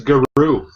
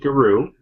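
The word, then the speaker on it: Gauru: Oh, hey, there's a pronunciation in the lexicon section. What? It is Guru. Alright, you talk about this a little second. I'm going to grab it. Okay. Yeah, apparently it is pronounced Guru.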